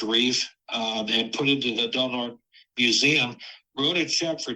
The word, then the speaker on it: Del Norte: So the lens, as you just said, is in the Del Norte, and you pronounce it Del Norte rather than Del Norte, right? Yes. Yeah. Okay. Del Norte Historical Society.